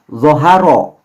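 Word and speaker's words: ظَهَرَ: Jadi membacanya zoharo. Zoharo. Ro-nya tebal ya terdengarnya.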